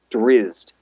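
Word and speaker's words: Drizzt: okay hang on okay pronounce every letter emphasis on the I as infused drizzed ah there it is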